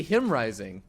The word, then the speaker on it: JimRising: those who don't know in Spanish Jays are pronounced with an H so his name should actually be him rising not you're right what